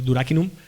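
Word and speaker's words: duracinum: latín durak inum que se escribe duracin se pronuncia durak inum y significa de piel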